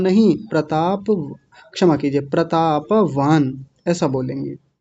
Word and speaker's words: प्रतापवान: आपका जाना पहचाना है प्रताप वान बड़ा ध्यान रखना है प्रताप नहीं प्रताप प को भी पूरा बोलना है प्रतापवान न पर हलंत है तो वहीं रुक जाएंगे